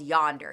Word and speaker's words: Yondr: She works for this company called Yonder. You spell it Yondr.